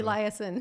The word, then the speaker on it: Elieson: Am I pronouncing that properly? Elieson.